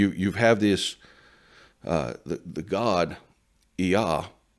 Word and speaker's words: Yah: But the point is that you have this, the God, Yah, that is pronounced like the first two syllables of the Tetragrammaton, of the sacred name for the God of the Bible.